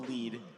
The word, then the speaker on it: Lead: And we were never sure if it was Bubble Lead or Bubble Lead. And it wasn't, for me, it wasn't until I played the Japanese version that I realized it's Bubble Lead.